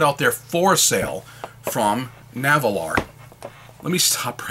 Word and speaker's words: Nahvalur: it was put out there for sale from naval r let me stop right there the name navalar all right i'm still struggling with it because